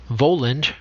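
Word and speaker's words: Völund: the edda of simond voland pronounced as if spelled weyland okay so that should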